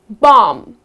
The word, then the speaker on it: bomb: is the silent b so when you say these words the letter b goes silent let's see the first one bomb so many people when